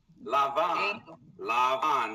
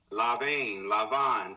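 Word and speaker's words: לבן: Lavan. This is the root, okay? Lamed Beit Nun, to be white. Okay? Lavan, to be white. Okay, Lavan is white, so Livane, okay?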